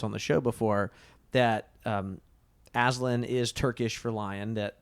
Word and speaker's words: Aslan: also here having Lewis say, I pronounce it Aslan myself.